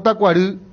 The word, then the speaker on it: Tacuarí: Tacuarí o tacuarí, la I suena igual, otra cosa dice pronuncia en guaraní, dice. Claro, esto. No, es tacuarí. Yo era de Barrio Jara y siempre se dijo tacuarí en los 80 y 90, dice Claro, allí, siempre.